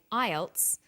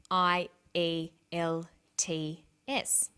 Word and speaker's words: IELTS: is called an acronym with an acronym we don't pronounce the individual letters we pronounce it as a word so we say IELTS not I al t f some other examples of